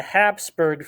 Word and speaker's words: Habsburg: And Austria will be ruled by the Habsburg family, which is spelled Hapsburg. That's Hapsburg.